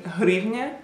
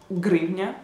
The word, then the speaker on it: hryvnia: H, like in hryvnia, which is a Ukrainian currency, and for a lot of people it's really hard to pronounce it. They would probably just say grivnia. Like in Russian you say grivna.